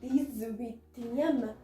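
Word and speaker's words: dix-huitième: It becomes the sound of Z here while pronouncing it together, because H is in a vowel, and then we'll be pronouncing it like DISVITIEM.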